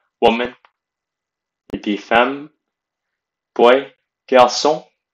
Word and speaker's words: garçon: Boy, garçon. Notice the accent on the C, garçon. Without the accent, it'd be garçon, which is an incorrect pronunciation, so it'd be garçon.